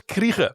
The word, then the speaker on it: Krige: Alice Krige. Yeah, that's the one. I had to look up how to pronounce her name, because it's... I was wondering about that, yeah. She's South African, so Krige. Krige.